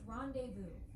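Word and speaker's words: rendezvous: Pronounced rendevu. Oh my gosh, I know that word and I just couldn't figure rendevous.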